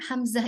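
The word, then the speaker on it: همزة: Jadi seringkali Hamzah itu dibaca tebal. Apalagi kalau setelahnya itu huruf tebal. Tapi dibacanya harus tipis karena memang Hamzah itu A itu adalah huruf tipis.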